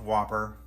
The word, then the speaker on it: WOPR: the comments section um it's pronounced whopper and there it is